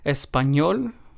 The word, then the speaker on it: español: In these words, we stress español, estoy, feliz, and trabajador. So, as you can hear, in all four of these words, we stressed the very last syllable because, of course, this